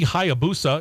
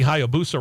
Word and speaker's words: Hayabusa: well so they're gonna run race prepped suzuki hayabusa it took me a while to to perfect that pronunciation by the way suzuki hayabusa races uh racing bikes with vansen heinz built